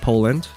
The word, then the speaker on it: Po1and: And I did ask the Poland here is pronounced Poland. They put the 1 instead of the L because the L had already been used as a name. So it's not like Po-wand, Po-one-and. It is Poland.